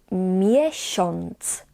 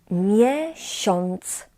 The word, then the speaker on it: miesiąc: as we call it, we pronounce in this particular word as on, like in an English word pond.